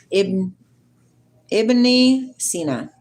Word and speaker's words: Ibn Sina: Ibn Sina.